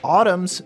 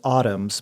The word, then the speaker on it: Autumn's: It's autumns. But I think for the purpose of this question, we should have you spell it for us. Yeah. So, it's autumn like the season.